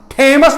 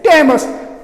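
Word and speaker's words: Thames: मिसाल के लिए हम थेमस नहीं कहते हैं, THOMS, थेमस नहीं, हम टेमस कहते हैं.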